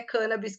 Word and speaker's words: cannabis: dizia né que eh existem as duas pronúncias são corretas cannabis vem de origem de Portugal e porém é cân Abis que tá registrado na Academia Brasileira de Letras e essa é a pronúncia dotada por esse grande professor professor Dr elisaldo carlini e eu sigo nessa pronúncia porém as duas podem ser adotadas muito bom bom gente